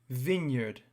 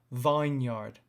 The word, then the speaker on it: vineyard: the second word was vineyard now have a look at the difference in pronunciation between vine vine and vineyard vineyard it's not vine yard is vineyard another one is berry berry